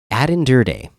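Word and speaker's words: Aden Durde: Jay Harbaugh next we had addan durde that is how you say his name he but he said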